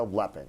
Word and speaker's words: Lepping: Rebecca Lepping.